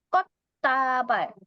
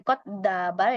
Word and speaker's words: 꽃다발: 여러분, 발음은 꽃다발. jadi bukan 꽃다발 ya, tapi 꽃다발. 왜요? karena di sini ada 받침대 ketemu sama diget ya. Ini dua-duanya dibaca T double.